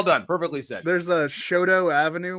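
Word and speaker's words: Chouteau: perfectly set there's a shoto avenue we call it shoto and he's like chateau that was really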